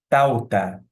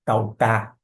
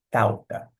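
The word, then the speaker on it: ταῦτα: Onde se encontra a sílaba tônica? aqui no ditongo, que a gente sabe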